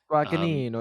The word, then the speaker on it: Guadagnino: So it's directed by Luca Guadagnino. Does anyone else want to give that a try? Does anyone else know how to pronounce it? Jalapeno. No, it's Guadagnino. Guadagnino. You gotta say with the accent.